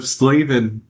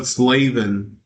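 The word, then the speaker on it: Slavin: Jacob Slavven. Yeah, that's how he pronounces his name. Jacob Slavven.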